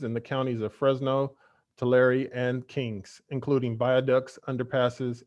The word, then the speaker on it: Tulare: I say it as Tulare. I've heard it as Tulare. So forgive me if I've mispronounced that. I apologize. I think it's just a preference.